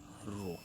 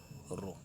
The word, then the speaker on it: rho: A constant come into picture, and this constant we call rho. This constant is called the rho, RHO, rho. This is pronounced as rho, and it is called the resistivity of the conductor.